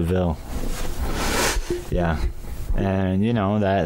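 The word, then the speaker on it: De Vil: devil and he's like it's not pronounced devil is prone to ville yeah and you know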